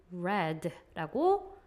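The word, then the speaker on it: read: 현재형일 때는 근데 우리가 과거일 때는 red라고 발음을 해 주셔야 돼요 그래서 나중에 이제 문장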